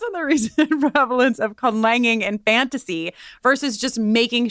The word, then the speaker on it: conlanging: Yeah, conlanging.